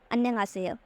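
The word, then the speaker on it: 안녕하세요: तो आप इसको कैसे प्रोनाउंस करेंगे, जैसे आप यहाँ पे देख सकते हैं, यहाँ पे लिखा है अन, फिर है न्यंग, फिर है हासेयो, अन्यंग हासेयो, अन्यंग हासेयो।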